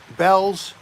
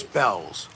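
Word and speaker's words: Bealls: name of the store is it bell bells how do you spell it b-e-a-l-l-s b-e-a-l-l-s okay i thought it was one just bell and it's not a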